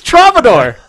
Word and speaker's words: Travador: Yes, but anyways, our special guest today, his gamer tag rhymes with Labrador and Commodore. It's Travador.